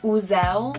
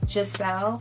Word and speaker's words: Giselle: at that Starbucks they said the wrong name they said buzel or sell or something like that my name is Giselle and it's spelled why I SSP L a lot of times people don't pronounce my name correctly like my manager should